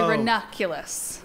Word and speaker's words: ranunculus: ran on kilos ranunculus I say ranunculus I'd leave the N Out that's in the middle I'm sorry wait a